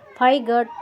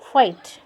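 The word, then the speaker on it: fight: नहीं होता है देखो फाइ गट नहीं बोलेंगे इसको बोलेंगे फाइट नाइट नाइ गट नहीं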